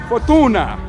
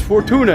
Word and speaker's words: Fortuna: And Google said the way you pronounce Fortuna is Fortuna. Fortuna, right? You just have to throw the Italian accent on it. So, it's really is Fortuna.